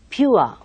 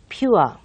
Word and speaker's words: pure: So you have that kind of ua sound over there. So you should say pure, pure, and sure, sure, poor, poor.